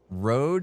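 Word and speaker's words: Røde: road is pronounced like Ro.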